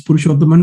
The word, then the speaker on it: Purushothaman: are the 175th person telling my name wrong it's pursuable and we can just